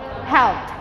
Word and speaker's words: helped: Nah yang terakhir harus ada, kalau diakhiri dengan huruf p, k, itu harus dibaca dengan t huruf ed-nya. Contohnya menolong bahasa Inggrisnya apa? Help. Kalau ditambah ed bacanya apa? Helped ya, bukan helped guys ya, tapi ed-nya diganti t, helped, ada t-nya ya.